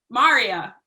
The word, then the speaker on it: Maria: Maria, like Daria. Maria.